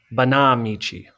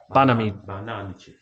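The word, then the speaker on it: Banámichi: And by the way, I've been saying it wrong, everyone. Banamichi. Banamichi. Banamichi.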